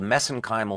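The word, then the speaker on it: mesenchymal: for that but that's that's a little bit of an Irish accent on my part got uh but anyway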